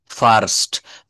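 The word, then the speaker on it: first: ফার্স্ট, ফার্স্ট, বলি না আমার ছেলে পরীক্ষায় ফার্স্ট হয়েছে, ফার্স্ট হয়েছে। ফার্স্ট, FIST, মনে করতে হবে আরটা এখানে নাই।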